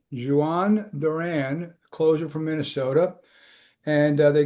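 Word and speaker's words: Jhoan Duran: here, but um they they got to it's pronounced Jawan Duran closer from Minnesota.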